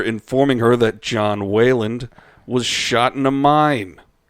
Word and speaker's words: Wayland: mitch just looked at me right when i said that because everyone pronounces my name waylon but i'm not i was going with smithers that too but it's wayland here way later it's